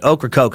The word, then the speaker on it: Ocracoke: they landed first near present-day oak Ocracoke hopefully that's right I used that buck in North Carolina pronunciation care for that one that doesn't look at like it spelled it all to me but Ocracoke is what they say landed near president Ocracoke